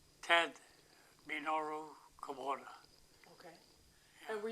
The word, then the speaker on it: Minoru: He got the nickname because Minoru, people at that language can't pronounce Minoru. They pronounce it Manur.